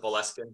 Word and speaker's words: Boleskine: He calls it Boleskine.